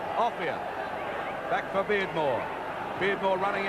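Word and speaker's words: Offiah: His real name is Offia. He doesn't care what you call him. We'll probably give him the name his mum and dad did, Offia.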